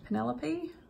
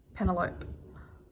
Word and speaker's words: Penelope: The one that stands out was the girl's name, Penelope. I thought it was Penelope. I think she must have